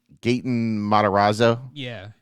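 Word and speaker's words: Gaten Matarazzo: It's like a I can't pronounce it. No, it's Gayton. Gayton Modazzo.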